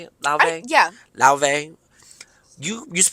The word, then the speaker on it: Laufey: La before is that how you say it La yeah la you used to pronounce it like ly ly that's what it was that's what you pronounced